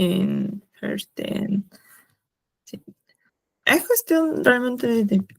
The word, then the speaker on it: verstehen: Y bueno, acá algo curioso, además que se pronuncia, o sea, mira, separándolos por sílabas, podemos pronunciarlo como les he comentado. Por ejemplo, em, este es, ER es como una EA, FEASH, y luego la ST como una SH, ¿no?